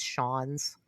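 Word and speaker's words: Schons: I think it's Sean's. Mm-hmm. That's how you say it.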